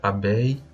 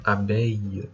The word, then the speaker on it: abeille: avez un abeille c'est comme si vous avez une extension de la dernière voyelle vous voyez là donc la voyelle i quoi donc abeille et i abeille abeille abeille bien abeille